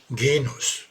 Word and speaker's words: Genus: spannende Thema Genus ein Genus Betonung auf das E nicht auf das O gehen muss nicht Genuss auch wenn Sex ist